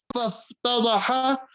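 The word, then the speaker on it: فافتضح: فَافْتَضَحَ or you can even pronounce it as فَافْتُضِحَ, whichever way, that he became disgraced.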